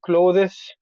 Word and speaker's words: clothes: phrase dream dream and closes okay but you don't you don't really pronounce the th and close it sounds like close the door the door okay clo